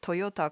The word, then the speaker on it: トヨタ: I still don't know how to pronounce Toyota correctly. そうだね、トヨタだね。トヨタ。うん。トヨタ。トヨタ。うん。トヨタ。Toyota. Yeah, that's American pronunciation.